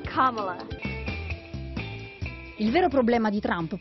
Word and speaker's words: Kamala: It's not Kamala, not Kamala. It's Kamala. Il vero problema di Trump però non è la pronuncia, ma che a sfidarlo non ci sia più Joe.